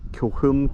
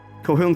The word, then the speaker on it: Kilchurn: I've always called it Kilchurn Castle, which is kind of how it looks like it's pronounced. I believe the actual pronunciation is Kilchurn Castle.